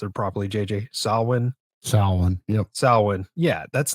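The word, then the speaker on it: Samhain: there celebrating what is it how do you pronounce it properly JJ salwin salwin yep salwin yeah that's not a thing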